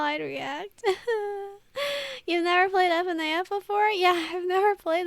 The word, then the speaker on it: FNAF: Okay, you can read FNAF like an acronym, like Sega, and not like CNN, you know?